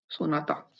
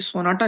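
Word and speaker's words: соната: ये सोनाटा नहीं है, सोनाता, क्योंकि ट के साउंड रूसी भाषा में नहीं होता है। तो जो भी ट होगा उसको आप त रिप्लेस करना पड़ेगा क्योंकि ट होता ही नहीं है।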